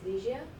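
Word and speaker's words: Ligia: you sure hi hey uh my name is liia can you say that again liia liia can you spell it for me l i g i a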